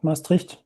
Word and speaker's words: Maastricht: How do you say Maastricht University? That was almost perfect, Maastricht.